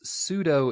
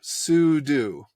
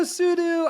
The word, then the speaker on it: sudo: I pronounce it but it's super user do sudo yeah I I um